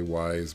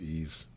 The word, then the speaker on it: Ys: C before here's ease some people say wise but it's actually pronounced ease kind of show you